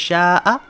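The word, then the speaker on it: شاء: So sha'a, this is pronounced sha'a.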